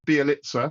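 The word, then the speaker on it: Białkowski: for a goalkeeper, but Daniel Bialkowski, which I'm reliably informed is how you pronounce his his surname, a 27-year-old Polish goalkeeper from Millwall.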